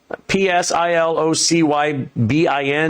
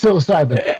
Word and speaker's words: psilocybin: Uh fizzilopen ps i l o c y b i n. Oh anyways. Psilocybin.